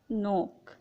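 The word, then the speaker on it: knock: किसी वर्ड में एन से पहले के आता है तो के साइलेंट हो जाता है। फॉर एग्ज़ाम्पल नोक।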